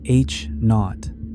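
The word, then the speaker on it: H₀: The Hubble constant, usually written as H0, pronounced H knot, describes the current rate of cosmic expansion.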